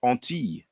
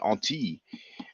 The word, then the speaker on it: Antilles: Actually, in French, we call it Antilles. When you have the double L, it's pronounced like a Y.